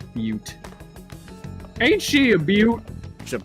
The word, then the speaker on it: Butte: All right, that's how it's pronounced. Butte.